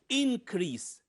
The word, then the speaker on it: increase: second part okay here increase increase the stress here in the first part of the word okay